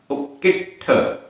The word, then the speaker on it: उक्किट्ठ: उक्किट्ठ, उक्किट्ठ आधा ट ठ, उक्किट्ठ आधा का पूरा का, उक्किट्ठ।